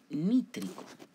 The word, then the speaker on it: nítrico: sufijo ahora sería ico, nítrico, con acento en la i, ácido nítrico.